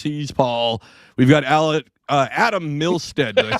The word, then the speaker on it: Milstead: We've got Adam Milstead. Did I say that right? Milstead? Alan's fine. No. No. Adam Milstead. Is that? Did I say Milstead right? Yes. Perfect. Yep.